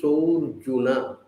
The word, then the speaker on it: surjuna: Because when you have the so and apostrophe like that, then the word Arjuna, A is silent. So it's said like this. Tyaktva deham punarjanma naite mam eti surjuna.